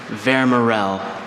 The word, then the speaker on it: Vermorel: Vermerel. Schwa in the middle.